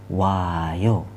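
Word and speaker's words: 와요: Oda, O plus ayo, jadi oayo ya. Oayo dibacanya wayo. Masih ingat ya, huruf Hangul seperti ini dibaca wa. Jadi wayo.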